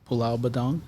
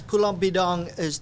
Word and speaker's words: Pulau Bidong: And as far as yourself, have you traveled back to Pulau Badong? Am I saying it correctly? Yes, Pulau Bidong I've never had a chance.